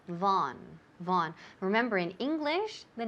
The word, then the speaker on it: Vaughan: bring bring okay I'm calling on behalf of Von systems foreign could you spell that for me okay could you spell that